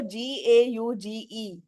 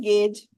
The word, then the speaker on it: gauge: Gauge. Gauge. Yes. So that holds true here also. When two vowels go walking, the first one does the talking, right?